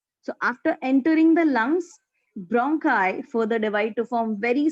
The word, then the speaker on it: bronchi: It is called as bronchi. Bronchi.